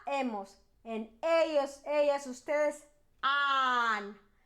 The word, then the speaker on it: han: And ellos, ellas, ustedes, han. The H is silent, so it's H-A-N. Don't forget to put the H. It's important, but it's silent.